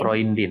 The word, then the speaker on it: Freund: oh ya, oh Iya, ya, jadi kalau E der bertemu U itu kan dibacanya OI ya.